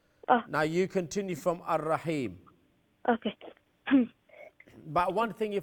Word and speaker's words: Ar-Rahim: In Ar-Rahim, the Ra will be Huruf al-Shamsi because the lam before it is silent. The Ra will be full mouth because it has Fatha on top of it. And it has a tasdeed on it, so it will be joined with the Noon, double letter, double sound.